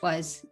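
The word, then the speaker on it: は: which is blah, blah, wa, blah, blah, des. Wa is pronounced like this, but it's written with ha in this grammar.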